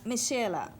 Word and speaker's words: Mi'Chelle: Talisa Michela.